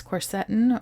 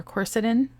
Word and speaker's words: quercetin: The first is quercetin or quercetin, tomato, you can pronounce it either way.